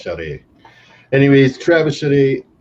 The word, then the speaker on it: Charest: So pretty sure it's pronounced Charest.